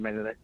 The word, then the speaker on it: Marinelli: Because I went over what we kind of like effed up in a way with Jason Garrett and Rod Marinelli. How do you pronounce his name?